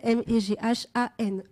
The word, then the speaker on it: Méghane: Alors, Mégane, Meghane. Et puis, voilà, comme ça se prononce en fait.